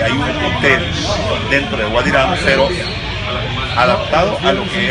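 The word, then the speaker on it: Wadi Rum: ¿Cómo se pronuncia? Wadi Ram. Wadi Ram.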